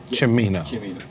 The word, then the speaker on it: Cimino: If I say his name, it is Cimino, correct? Cimino.